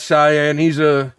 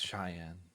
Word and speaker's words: Cheyenne: And then that Cyan, I don't pronounce his name right. He gets upset about it. He's a ranch hand and he's on security with me. Yes, it's Cheyenne.